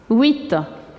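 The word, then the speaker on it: huit: Le H ici, on l'écrit, mais on ne le prononce pas. C'est le son qui représente le graphème H. Il est aspiré. 8.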